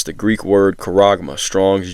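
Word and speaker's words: χάραγμα: All right, it's the Greek word charagma, Strong's G 5480. Okay, good pronunciation of it. Strong's G 5480. Charagma.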